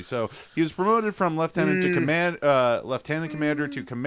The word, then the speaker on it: lieutenant: to sub Lieutenant Lieutenant pronounced left tenant if you're British oh you say left